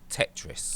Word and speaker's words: Tetris: found this game called tetri or tetri I'm not sure how you pronounce it but it's like it's pronounced it's pronounced Tetris ah okay right Tetris